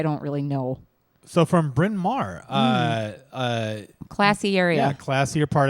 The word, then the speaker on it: Bryn Mawr: Cassie in SE a Bryn Mawr bryn mawr I sorry have a hard time pronouncing it because there's not enough vowels in it oh yeah she always